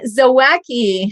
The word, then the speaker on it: Zawacki: today's guest is zawaki hi hello you even got my last name right nobody does that well you know we